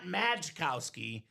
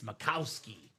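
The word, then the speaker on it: Makowski: It's not Mikowski, it's Macowski. the proper pronunciation JSA certified for Dan.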